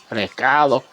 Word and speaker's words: recado: So I'm going to use something called raketo, however you want to say it. It's pronounced that way, but it's spelt recado, but it's pronounced recado.